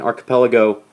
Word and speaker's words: archipelago: An archipelago has a hard C there.